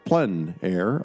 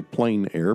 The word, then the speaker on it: plein air: open air or outdoors the French call it plenn air others say plein air but no matter how you say it there's a huge